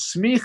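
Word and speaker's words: semicha: a mini life story i guess um it's smith is how you pronounce that it means ordination and actually it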